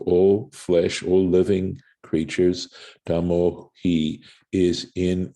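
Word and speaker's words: היא: nevertheless the pointing right the tradition that we have is that we're supposed to pronounce it as he as a feminine as the feminine pronoun for the soul of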